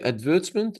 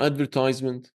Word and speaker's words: advertisement: Do we say advertisement or advertisement? By the way, that's why we have this photo. Yeah? One of them is American, advertisement. One of them is British, advertisement. Yeah?